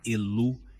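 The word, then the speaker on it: Ilu: profundo ao Deus alto el Originalmente pronunciado elu em ugaritico que vive na fonte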